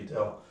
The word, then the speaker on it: del: introduced this thing but the dell operator it's pronounced dell sometimes i look at that and i say grad just as often as i say dell i think but uh you know technically it's supposed to be dell the reason that sometimes i make that mistake